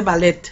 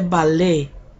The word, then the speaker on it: ballet: la primera ballet bueno pues no no se dice ballet se dice vale como si tuviera acento en la vale y ésta pues que